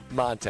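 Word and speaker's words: Montee: of Monte Ball, but for the longest time we called him Monte Ball. Yeah. Yeah. And it took like a couple years for, you know, it's actually Monte. It's like Monte.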